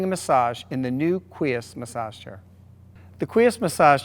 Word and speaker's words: Quies: This is the new Quies massage chair, pronounced Quies. Qui like the word queen without an N on the end, and S like the letter S, Quies.